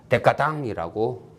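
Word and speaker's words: décadence: 또 조로서 니체가 자주 썼던 게 데카당스. 이거 불어라서 데카당이라고 발음을 한대요. 저는 불어는 잘 못하니까 그냥 흉내만 낼게요. 데카당스.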